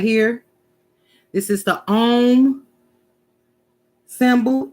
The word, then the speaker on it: Om: Om, pronounced Om.